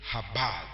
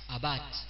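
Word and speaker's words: עבד: Le mot que nous voyons traduit par cultivé, c'est le hébreu habad. Comment ça se prononce ? A B A D. Ab A. Habat.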